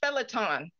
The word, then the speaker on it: phaeton: That word is pronounced, anyway, that word is pronounced phaeton.